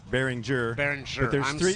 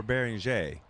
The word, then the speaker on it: Behringer: and we say juror Behringer there's three ways to say it Behringer Behringer or bearing J which is the French way they say it because it's a French company so I apologize for